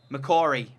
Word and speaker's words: McCory: McCory is how you say it.